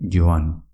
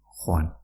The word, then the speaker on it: joan: ¿Y cómo se dice ir, el verbo ir? Pues se dice joan, pero también puedes decir Juan.